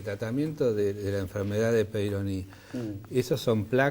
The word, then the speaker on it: Peyronie: ¿Qué es la enfermedad de Peyronie? Lo pronunciaste bien.